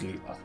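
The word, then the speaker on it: Leila: Her name's Leela or Laya. Pronounces Leela.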